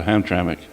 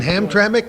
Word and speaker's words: Hamtramck: Yeah, Hamtramck.